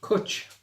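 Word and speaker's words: cwtch: pronounce pronunciation coach Coach coach to rhyme with Butch the Welsh word for cuddle or hug laughter with I like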